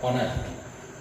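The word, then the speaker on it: honest: ये होनेस्ट नहीं होता है, कई बार बच्चे गलत पढ़ देते हैं इसको। ऐसे बनने वाले शब्द हैं, लेकिन इनका प्रोनाउंसिएशन ऐसे बनता है, एयर और ऑनेस्ट।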